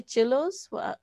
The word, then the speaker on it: Chillo: One was, what did you say, chillos? How do you spell it?